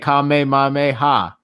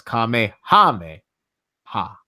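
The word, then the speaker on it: Kamehameha: It's like saying Kame Mame Ha. It's like no, it's Kame Hame Ha.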